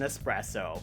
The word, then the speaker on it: espresso: mean I get it there's no X in espresso that bothers me too but